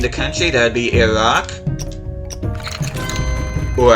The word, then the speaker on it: Iraq: Name the country, that would be Iraq. Or Iraq.